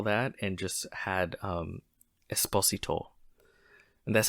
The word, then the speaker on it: Esposito: they cut all that and just had um Esposito and that's how you say his name Esposito uh and and that's why if he feels